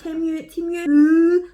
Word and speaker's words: Temu: went a wee bit mental on Temu again, not gonna lie.